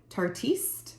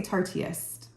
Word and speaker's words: tartiste: to use tonight is the tarte tartiste I believe that's how you say it a lot of people say tartiest um so this is